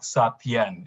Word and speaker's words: Satyen: The Sat part is actually more like Sat. The Yen is more like Yen. So it's more like Satyen is the way they should pronounce my name.